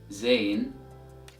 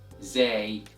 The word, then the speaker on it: ز: It can be either pronounced as Zayn, or can be pronounced as Zay. So it's either Zayn or Zay, and you can choose whatever you want to pronounce it with. Both are right. So the sound of this letter is equivalent to the letter Z in English as in the word zebra, and the sound of